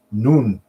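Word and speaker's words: نون: It's Nun is how it's pronounced, and you've probably seen it before.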